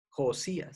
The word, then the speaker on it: Josías: Josías, se escribe Josias, Josías, el rey Josías.